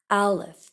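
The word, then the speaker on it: Aleph: with the Hebrew letter Alf a l e p when you pronounce it it has no sound it it means breath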